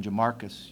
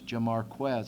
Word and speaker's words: Jamarquez: He said, even he, Jamarquez says, usually there's a Z in there when you pronounce it that way.